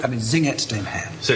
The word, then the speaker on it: Singet: So in choir 2, he starts just the word Singet, 2 syllables. Singet, singet.